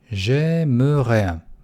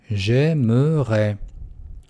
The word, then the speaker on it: J'aimerais: J'aimerais. Видите, aimer – это форма инфинитива. И окончание «э». J'aimerais. И очень важно, когда вы произносите его, нужно делать ударение на последнюю гласную.